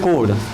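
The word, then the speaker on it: chord: जीवा इंग्लिश में सीधे इसको बोलते हैं कोड सी एच ओ आर डी कोड पढ़ेंगे कोड है ना उच्चारण में होगा कोड लिख लिए कोड आपको समझाते हैं।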